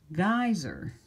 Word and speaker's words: geyser: familiar with this one ey that combination says I so here's an example word I or geyser e Y says I long I long i